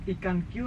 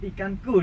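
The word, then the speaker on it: IkanQ: Jadi kalau untuk pengejaan seperti biasa aja, ikanku. Ikanku. Iya Ikanku. betul. Oh, bukan ikan Karena ini Q. huruf kol-kolah nih.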